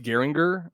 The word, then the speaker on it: Geringer: So yeah, it's pronounced Geringer, and so it's like all hard G's, and there should be like an umlaut over the O.